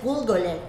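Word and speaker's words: גולגולת: Su pronunciación en hebreo es Gulgolet y Gólgota en arameo, el lugar de la calavera, ya que este monte tiene la forma de una calavera.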